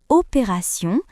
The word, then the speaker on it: opération: Dans le mot attention, T se prononce S.